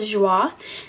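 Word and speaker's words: Joie: the front um and the brand is called Jah it's spelled j o i e and this shirt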